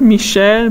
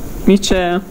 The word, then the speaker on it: Mitchell: So that's why this is not Michel, but it's Mitchell.